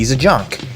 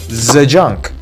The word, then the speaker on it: Zajonc: Zajunk, pronounced like how a German guy would say the junk. Zajunk, but he's everything but a junk.